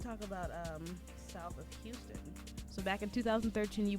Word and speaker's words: Houston: Houston, South of Houston.